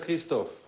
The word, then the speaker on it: Christophe: No sé si es Christophe o Christofi, abogado defensor del expresidente Rafael Correa en temas internacionales. Abogado, gracias por estar aquí. Me dice cómo pronuncio su nombre. Christophe, se pronuncia Christophe. A manera francesa.